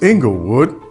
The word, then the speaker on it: Inglewood: the fabulous city of inglewood um well i'm supposed to say it like this inglewood that's where we moved